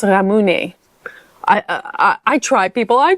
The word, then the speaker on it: ramune: And hopefully I'm pronouncing that correctly because from the first video I spoke about ramune but I think I said ramoon and someone I believe helped me. I think it's more pronounced ramune.